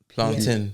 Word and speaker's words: plantain: It's basically, wait, how do you say that word? The it's PLAINT. Plantain.